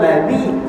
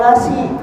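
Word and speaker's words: الذي: Jadi zal itu di ujung ilat, za yang siratal ladzi, zal bawah di, zi coba dengarin siratal ladzi, ajak nih baca siratal lasi.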